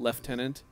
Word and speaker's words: lieutenant: got that why is why is the British pronunciation of Lieutenant leftenant there's no s in there the same reason they